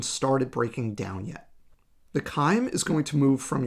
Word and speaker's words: chyme: at this point we have a material called chyme and that's how you pronounce this this is called chyme this is what is in your stomach when